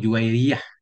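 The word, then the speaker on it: جويرية: Qauluhu juwairiyatu yuqra'u bisukun. Qauluhu juwairiyah.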